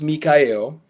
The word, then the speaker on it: Mi'chael: My Facebook is spelled spelled Michael but pronounced Mikael which is Michael or should I say